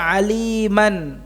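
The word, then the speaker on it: عليما: Kalau dalam keadaan waqaf tidak lagi dibaca aliman, mim tanwinnya tidak dibaca aliman, tetapi apa? Alima.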